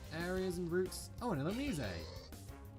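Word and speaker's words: Illumise: Oh, an Elomise. Yes, that is actually how you pronounce that name.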